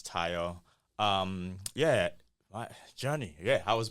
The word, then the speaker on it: Tayo: So I go by Tayo. African pronunciation is Tayo.